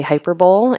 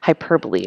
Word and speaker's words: hyperbole: how to pronounce hyperbole some people like to say hyperbowl and it is not the Super Bowl of English hyperbole is how it's pronounced